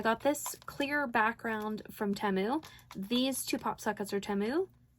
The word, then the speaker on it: Temu: on temu and teu temu I thought it was teu there was a commercial for it um during the Super Bowl and they pronounced it temu and I was like